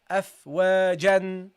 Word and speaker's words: أفواجا: Okay, normally you would pronounce this as أفواجا. أفواجا. You see, normally, because of the tanween, you pronounce it أفواجا. Okay, but now what happened? Because you stop, you have to do what? You have to drop the tanween, guys.